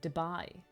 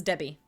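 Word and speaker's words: Debye: Dib-I. How you pronounce it. Dubai. Sounds like Dubai. Yeah, Wiki suggests... Okay. I've always pronounced it as Debbie.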